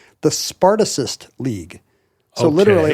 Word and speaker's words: Spartacist: But when the hard C of Spartacus turns into a soft C, you kind of lose the connection.